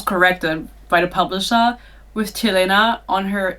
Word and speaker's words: Telena: The character's name is Telena. I think the pronunciation guide says Tylena, but why is it Te then? T-E, sorry, I'm speaking English. Anyway, it's Telena to me.